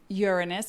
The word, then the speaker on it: Uranus: skip the jokes because the pronunciation really is like you're on us and it's like the